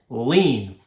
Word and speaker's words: lien: lien on the property that is spelled l-i-e-n lean a lien is a